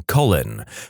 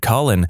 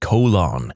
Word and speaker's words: Colin: Conversely, I went to high school with a kid named Colin, and our physics teacher constantly pronounced it colon.